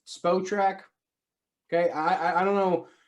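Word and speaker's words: Spotrac: just want to point out to everybody it's pronounced spo track okay i i don't know like nobody seems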